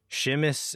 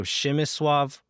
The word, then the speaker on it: Przemysław: So the first name, it's spelled like Przemysław, but the PRZ sound makes the sh sound in Polish. So Przemysław, and then the L is a W. So Przemysław, and the last name Płacheta.